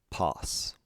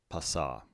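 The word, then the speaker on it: πᾶς: its namesake in english alpha with the circumflex followed by a sigma pass the feminine form begins just the same way note the different form of the sigma because it doesn't occur at the end of the word passa finally the neuter pawn pass passa sue now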